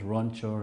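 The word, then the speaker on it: Ranchor: It's just 2 syllables, Ronchor.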